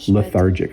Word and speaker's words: lethargic: It has the TH in it, makes it a little hard to pronounce for people learning English, but lethargic. I'm feeling lethargic.